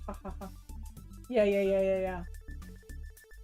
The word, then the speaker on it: ja: j a because the the J is pronounced as ha but it's spelled like ja but but it's pronounced ha yeah yeah yeah yeah